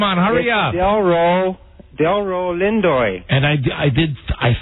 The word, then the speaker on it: Lindo: hard to screw up ass no the Delroy Lindy guy you said yes what is the correct pronunciation it's Delroy come on come on hurry up Delo Del Lindo and I I did I think that I